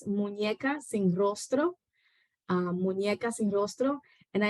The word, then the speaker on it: Muñecas sin Rostro: I also, and so in Spanish, Annie, to kind of like help with the pronunciation. In Spanish, it is Muñecas sin Rostro.